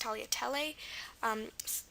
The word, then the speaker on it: tagliatelle: Well, that actually applies to fettuccine than tagliatelle, because this is actually pronounced tagliatelle.